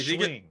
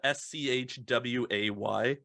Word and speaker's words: Shui: not swing per se. I've always imagined it as like a SCHWAY. So you've got kind of the full pronunciation of both. Yeah. So it's like school SCH way.